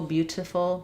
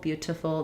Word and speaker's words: beautiful: British English, more typical beautiful, beautiful. They'll use that true t even in the middle and ends of at ends of the ends of words.